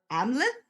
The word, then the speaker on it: Amleth: And I looked it up so I would say it right, but it's the Saxo's legend of Amleth.